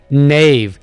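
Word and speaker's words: knave: नेव बदयानत मकार, के साइलेंट होगा, नेव बदयानत या मकार.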